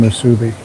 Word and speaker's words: musubi: 7 ounces of steak, 3 fried eggs, rice, spam musubi. Oh, I'm sorry, spam musubi is $3.85. Or as Diane likes to mispronounce it, musubi.